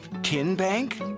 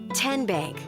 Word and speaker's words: TN Bank: How do you say the name? TN Bank? Nope. Tin Bank? Uh-uh. So what is it? 10 Bank. 10, as in Tennessee, right here where all